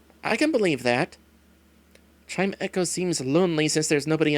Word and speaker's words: Chimecho: didn't think so so keeper says it's actually pronounced chime echo i can believe that chime echo seems lonely since there's nobody around darn it